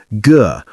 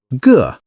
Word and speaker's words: 个: Many beginners say ge or gay. The correct pronunciation is like ge, but short and light, ge.